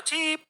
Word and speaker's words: Chep: Ya, Chep dengan E-nya yang panjang. Chep gitu kan ya. Chep atau Chip? Kalau English gitu bacanya Chip gitu kan. Kalau Indonesia, Chep.